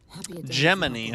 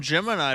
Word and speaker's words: Gemini: Geminy. The pity it's damaged like Germany cricket. A memory of me with my two apprentices. Geminy, huh?